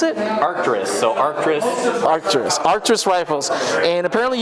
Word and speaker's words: Arcturus: And how do you pronounce it? Arcturus.